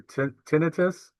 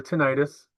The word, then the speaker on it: tinnitus: Well, tinnitus, and it can be pronounced either way, either tinnitus or tinnitus, is when you experience ringing or other noises in one or both of your ears.